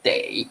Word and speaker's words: 得: 好，得注意它的 pronunciation，这个字念得，它的意思是 must。